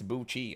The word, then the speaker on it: Buchi: Pronounce Buchi. Oh. Like bougie.